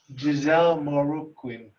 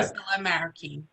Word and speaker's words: Guisela Marroquín: Giselle Moruquin. Okay, just get them on. Hi, ma'am. Spell it. Wait, Hi, it's Hi. Gisela Marroquin.